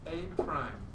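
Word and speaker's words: A′: That is pronounced A prime, apostrophe.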